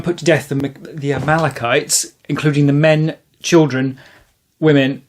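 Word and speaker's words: Amalekites: discover as part of this conversation it's not pronounced Amalcchites, it's Amal Amalachites. So um yeah, wonderful to actually go and talk to someone about it. And the vicar agreed it was Amalachites as well.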